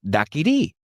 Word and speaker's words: daiquiri: No decimos daiquiri, sino daiquiri. Y creo que ambos lo decimos mal, porque viene de daiquiri, acentuando la I final, que es el nombre de una playa en Santiago de Cuba.